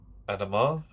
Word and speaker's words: Adama: It's from Commander Adamar. That's how you pronounce it.